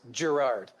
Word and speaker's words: Gerard: Oh, actually, it's Gerard. I don't pronounce the second R.